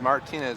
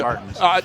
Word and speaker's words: Martens: Everybody says Martinez or Martins. Let me tell you, Martins.